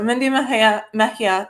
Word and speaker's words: Mejia: Mindy Mejia, she told me to pronounce it right before. So Mindy Mejia is a CPA and a graduate of the Hamline University MFA program.